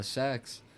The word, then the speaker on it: Sachs: But uh it says JP Morgan Goldman uh Sachs. That's how you pronounce that.